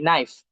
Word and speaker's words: knife: during during middle English the knife was pronounced is spelled e and f nif. But as the modernization of English, the NIF translated and evolved to the pronunciation and spelling into the knife that now we are using the K N I and F the knife and the invention of